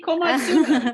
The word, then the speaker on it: komatsuna: I always say komatsuna. Rhymes with tuna.